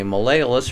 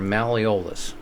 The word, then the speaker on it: malleolus: things are the two each one is a Malayalis or malleolus people pronounce it both ways don't worry about that so fibula smaller than